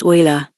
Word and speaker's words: Euler: so Griffith is frustrated asterisk pronounced Euler asterisk except of course his